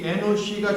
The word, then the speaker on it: 에노스: 에노스. 정확히 발음하면은 에노시가 정확한 발음입니다.